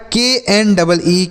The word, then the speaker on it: knee: तो देखिए के और यन अगर एक साथ लिखे रहें तो यह के साइलेंट होता है। क्या होता है साइलेंट सर? के साइलेंट होता है। इस यन को पढ़ेंगे, लेकिन यह जो के होगा इसको नहीं पढ़ा जाएगा।